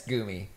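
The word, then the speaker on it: goumi: I never know how to pronounce it. It's goomy.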